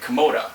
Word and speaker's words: Kimota: superhero is by saying his magic word Koda which is like Atomic phonetically backwards yeah and so originally